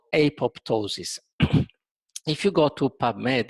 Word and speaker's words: apoptosis: And it is a term that derives from Greek, from ancient Greek, and it is pronounced apoptosis, which means physiologic cell death or physiological death.